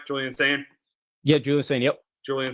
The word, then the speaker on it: Julian Sayin: Am I saying it right, Julian Sayin?